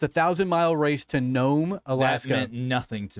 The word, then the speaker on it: Nome: Nome, Nome.